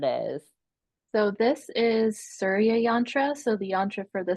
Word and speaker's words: yantra: it so it's called yantra how do you spell it y a n t r a okay so just like Mantra but with a Y um okay so show